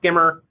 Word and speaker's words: CQMRR: This new system called SCIMR, as we pronounce it, CQMRR, the Clinical Quality Measure Reporting and Repository Service.